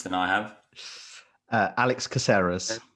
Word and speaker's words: Caceres: uh how would you pronounce how would you pronounce that prath you've got a better uh eloquence than i have uh alex caseras caceres there you go crew versus caceres or or